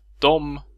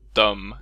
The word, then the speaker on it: dem: Ordets e blir påverkat av m-et och byts ut mot ett å, ö eller ö-ljud beroende på dialekt. Och vi får då uttalet dom, döm eller döm.